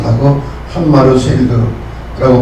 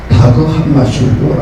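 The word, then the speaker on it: Dag Hammarskjöld: 그는 1905년에서 1961년까지 56세를 짧게 살다간 유엔 사무총장을 지낸 다그 한마셜. 따라하시죠. 다그 한마셜. 물론 이분이 스웨덴 사람인데 스웨덴 말로는 다그 한마르쉘드라고 발음하는데 영어로는 그냥 다그 한마슐드라고 합니다.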